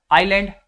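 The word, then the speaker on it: island: आइलैंड यहां भी S silent है।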